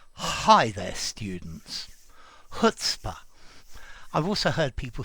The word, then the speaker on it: chutzpah: hi there students hutzpah i've also heard people say cutspa but i think i would recommend just going with the hutzpa pronunciation losing the c or the ch the c okay this means that